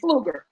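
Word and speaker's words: Flueger: Wait, Pat, how do you pronounce his last name? Fluger, Yep.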